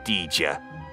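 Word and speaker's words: Dejah: very first one he meets is the stunning DJ thorus and yes it is pronounced dija we looked it up Princess of Mars cast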